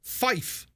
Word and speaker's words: five: is Bravo or Bravo the number five for example is pronounced as Fife not five but five right um you